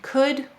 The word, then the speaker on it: could: And let's extend that to this pattern, could, would, and should. Notice OU is saying its broad sound before a silent L, like in walk, talk, and chalk.